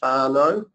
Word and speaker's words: whānau: A macron is a longer vowel, so rather than whānau, it's whānau. And an R is pronounced slightly differently, a R sound, as instead of saying korero, it's korero.